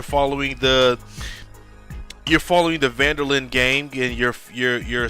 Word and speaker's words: van der Linde: open-world by Rockstar and basically you're following the vanderlin let me make sure I'm pronouncing that correct the van der Linde yeah so they're right look at me the